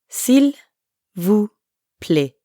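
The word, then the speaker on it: s'il vous plaît: first part of silvous Sil vu silvu Sil Vu play Sil vu but when speakers are in a hurry that l sound at the end often gets left off ER now you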